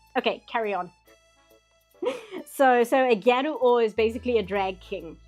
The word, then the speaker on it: Gyaru: It's just the word gal, but pronounced like Japanese phonetically. Gyaru.